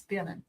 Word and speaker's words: Birnen: It's Birnen.